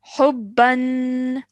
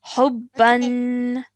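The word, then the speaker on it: حبًا: Okay, it has a tanween on the top. Fathatain. Hubban. حبا. Well done. Remember that elongated nasal sound at the end of the tanween is really important to remember, okay?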